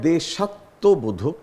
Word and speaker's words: দেশাত্মবোধক: একটা শুদ্ধ বানান আছে দেশাত্মবোধক উচ্চারণটা হয় দেশাত্মবোধক কিন্তু বানানটা হয় একটু আলাদা কোনটি হবে চারটি সম্ভাব্য